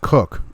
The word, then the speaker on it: Koch: Koch is pronounced Cook.